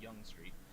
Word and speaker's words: Yonge Street: It's spelled like Yonge, Y-O-N-G-E, but it's pronounced Yonge Street.